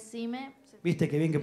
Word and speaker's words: Xime: ¿Es Sime o Jime? Porque me pusieron Sime con X. Sí, es Sime.